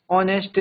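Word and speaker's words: honest: एयर ऑनेस्ट honour are honorary और ऑनरियम।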